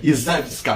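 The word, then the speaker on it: Iżewska: Pronto, Izewska, pronto, agora foi, Izewska, agora eu pronunciei certo.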